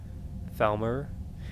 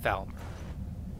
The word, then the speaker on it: Falmer: Felmer, I think they're is pronounced Falmer. I know. Oh, I keep saying like Fmore or something like that.